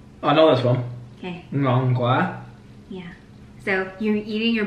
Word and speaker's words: ngon quá: Ngon qua. I know this one. Okay. Ngon quá.